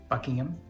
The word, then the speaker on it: Buckingham: Buckingham.